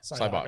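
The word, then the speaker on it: Sybok: how do you pronounce his name? Cyborg. Cybok.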